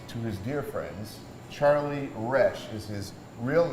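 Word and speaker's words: Roesch: was my name, and I was scared to tell the teacher that that's not how you pronounce my name. So I'd sit there and I'd raise my hand, and I'm Mr. Roche. All right. I'm really Mr. Resch.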